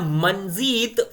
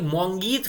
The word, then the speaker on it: मोंगीत: Next question, in which state is द मंजीत festival celebrated? भाई मोंगीत festival, मोंगीत देखिए सही pronunciation, मोंगीत उत्सव किस राज्य में मनाया जाता है?